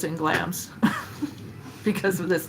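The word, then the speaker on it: Glamis: It's pronounced glams, by the way.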